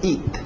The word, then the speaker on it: eat: Aquele T bem nítida. Eat. Para no T. Eat. Isso. É a som de I. To eat.